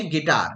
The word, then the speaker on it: guitar: जैसे गिटार, आपने देखा होगा गिटार, तो गिटार की स्पेलिंग क्या बनेगी?